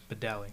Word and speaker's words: Badali: Badali. Badali. I almost said Badia.